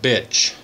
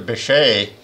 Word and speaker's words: Bitche: It was the French pronounced the Bitche, that our 100th Division was assigned to clear that area, which was heavily defended by the Germans.